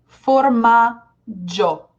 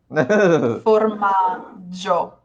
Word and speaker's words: formaggio: This is the word for cheese, formaggio. Yeah. Not Gio, formaggio.